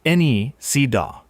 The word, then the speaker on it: Nisida: Pronounced Nisida.